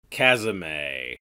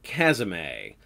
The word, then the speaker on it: Chasme: piss flavored Toblerone chasme chasm a according to the wiki almost all pronunciations are technically right for this demon but the cool folks call this demon a chasm a no doubt there are